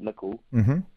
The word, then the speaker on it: Nicoll: yep yep that's Norwegian so it's um sort of like pickle but nickel and it's Club star